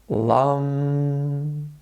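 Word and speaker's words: lam: For chakra number 1, the seed syllable will be lum, and it will sound like this. Lum.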